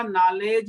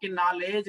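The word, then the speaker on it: knowledge: Quite sometime, देखिए आपने सुना होगा नॉलेज में के साइलेंट है।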